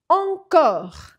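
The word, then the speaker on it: encore: e no final e fica petitte petitte TR encor Adoro essa palavra encor não é encor olha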